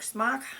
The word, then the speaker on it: Smok: on my smok smoke smok however you want to pronounce it I believe it's smok um but because of the spelling and being an ex smoker I want to call it smoke so on the smok